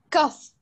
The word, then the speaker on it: cough: Now let's move on to the words which have the GH, which are pronounced F. Yeah. Okay, so let's start with Mustafa. Yes, teacher. Read this word, please. Cough.